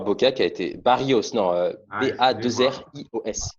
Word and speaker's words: Barrios: Boca, qui a été Barrios, non, Ah, excusez-moi. B-A-2-R-I-O-S. Il n'y a pas de L. Excusez-moi. Parce que Excusez-moi. s'il y avait des L, j'aurais prononcé Barrichos.